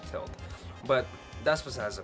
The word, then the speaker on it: Tilt: just tilt Studios now I used to call it tote because of the way people were pronouncing of us actually tilt but that's what has